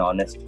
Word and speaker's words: honest: but not sounded and honor and her an honest man examples of them where the amps and